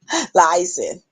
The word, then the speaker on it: liaison: Liaison. How you say it? Liaison.